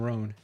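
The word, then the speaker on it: Rohn: His name is Jim Ran. and Jim Ran. Ran is spelled R O H N.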